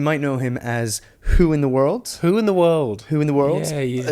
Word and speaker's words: Hoointheworld: Whointheworld. Whointheworld. Yeah. It's spelled like your surname, H-O-O.